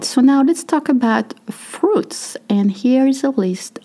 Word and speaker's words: fruit: Fruit is pretty hard to say because you have two sounds. You have U, I. Of course, it is a little hard, especially the U, which is French, very French sounding.